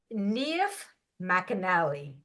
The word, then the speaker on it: Niamh McAnally: Her name is Niamh McAnally. Did I say that right? Excellent. Very good I, pronunciation.